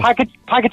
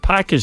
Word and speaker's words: packet: Brian, what word does your head in when you hear somebody mispronouncing it? Crips. Oh. Package of crips.